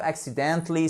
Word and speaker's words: accidentally: Accidentally, voyez, vous avez une petite accent tonique ici au début, donc un petit accent, et ensuite vous avez un accent tonique majeur sur le dently, ok?